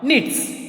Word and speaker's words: knits: My grandma knits very fast. My grandma knits. K-N-I-T-S. How to pronounce? Knits. Here, K will be silent.